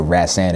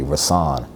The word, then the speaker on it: Rahsaan: like growing up you know my name is pronounced Raths and my father named me after a musician ran-san Roland Kirk and there's another artist named today calling us on Patterson but rats and is really how you say it but people